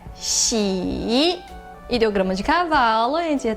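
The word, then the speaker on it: 喜: Próxima sílaba, o ideograma de alegria se escreve assim e a sua pronúncia é xi.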